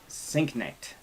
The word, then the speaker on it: Sienknecht: Man, we're getting close to 100, with very special guest, Jason Sienknecht.